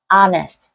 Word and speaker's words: honest: một cái từ mà cái chữ H của nó là câm cho nên chúng ta sẽ không đọc là ho ho gì hết mà chúng ta sẽ bỏ hát đi đọc là Honest nghĩa là chân thật